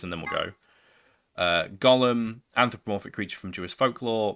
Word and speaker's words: Golm: be referred to by the last bit which is of course Gollum much to his surprise this ends up being pronounced like Gollum anyway on a side note